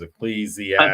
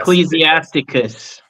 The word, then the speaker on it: Ecclesiasticus: I referenced a book of, I don't know how to say this name, it's Ecclesiasticus. Ecclesiasticus.